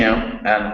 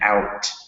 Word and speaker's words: out: And out, not outa. Out.